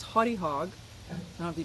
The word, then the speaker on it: Haute Hog: I thought it was Haute Hog, but they corrected me. This is pronounced Haute Hog.